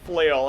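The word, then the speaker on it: Flael: half elf uh named Flail as it's spelled F L A E L. So it sounds like an Elvish name, but it's literally pronounced flail as in like flailing around half-hazardly and such.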